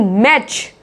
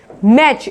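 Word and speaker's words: match: मैच बोलेंगे, नहीं, मैच, मैच। इसमें भी क्या है? टी साइलेंट है, इसमें मैच बोला जा रहा है।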